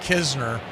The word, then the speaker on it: Knizner: It is pronounced Kisner, though there is a Knizner. So think of it like a silent N. Almost the exact opposite of what you do with knife.